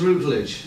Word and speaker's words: Routledge: So- Yeah, Les Rutledge. Yeah. Is that how you pronounce his name? So, Les Routledge. Routledge, okay. Routledge, Les Routledge, yeah.